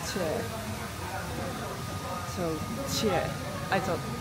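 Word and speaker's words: chè: So I just ordered the caramel bowl, and the dessert name is pronounced Che. So Che. I thought Che because it's C-H-E, but they say Che.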